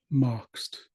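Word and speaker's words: moxt: next one is moxed so it might be spelled with an X and A T at the end or you might see it with a k s at the end either way it's pronounced moxed you might actually see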